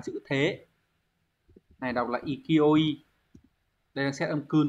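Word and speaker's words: 勢い: Này đọc là ikioi.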